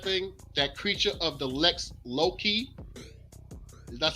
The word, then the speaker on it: lex loci: That creature of the Lex Loki. That's how you pronounce that.